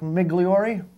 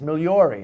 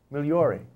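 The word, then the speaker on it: Migliore: Migliori? Fine. See, you're not saying it right. It's Migliori. M-I-G-L-O-R-E. Migliori.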